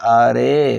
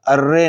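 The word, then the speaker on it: آره: نتیجہ یہ ہوگا کہ یہ لفظ آرے ہوگا، ارے نہیں ہوگا۔ اور جب ہم کہتے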